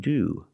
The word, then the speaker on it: to: We pronounce the to like do, because again, it's after a vowel and before the schwa sound.